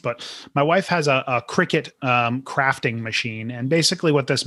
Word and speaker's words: Cricut: So my wife has I'm going to say Cricut, although there's some controversy on how it's properly pronounced, but my wife has a Cricut crafting machine.